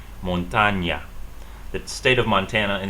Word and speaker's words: montaña: So we have a regular N, and then we have an NA. This is called, this is called NA. The letter is named NA, and this letter is called NY, montaña.